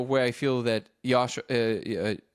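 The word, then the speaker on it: Joscha: And for example in the so I'll give you an example of where I feel that Yasha how do you pronounce his name? Josha Josha Josha yeah where he I feel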